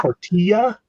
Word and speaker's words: tortilla: It's also pronounced tortilla.